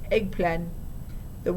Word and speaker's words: eggplant: "Eggplant," my mom said, except she pronounced it eggplan. The woman frowned a little. "You know, it's eggplant," said the woman, after my mom put the camera down. "What?" "Eggplant," the woman said, emphasizing the T so vigorously she was practically spitting on my mom.